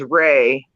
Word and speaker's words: Rea: Last name is Ray, and it's spelled R-E-A.